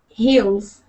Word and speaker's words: hills: Hills. So the thing with that sound, it looks like E, but it is pronounced I. Hills. Hills, exactly. Exactly. Hills. Remember that hills and heels sound different.